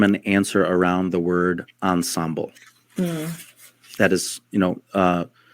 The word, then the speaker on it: ensemble: try to form an answer around the word Ensemble that is you know uh the frch French pronunciation ensembl means in English together the team